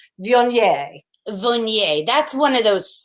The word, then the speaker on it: Viognier: It's Viognier. Viognier. That's one of those Frenchy things. It's a French word, and the accent is on the nier.